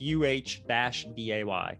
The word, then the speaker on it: Uday: It's pronounced UH-DAY. Uday, right?